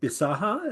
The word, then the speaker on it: Bisaha: a new singer um come up with John bisaha is that how you pronounce that yes correct correct uh what was